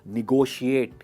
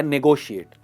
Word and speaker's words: negotiate: निगोशिएट या नेगोशिएट। इसकी सही प्रोनाउंसिएशन है निगोशिएट, निगोशिएट एंड नॉट नेगोशिएट।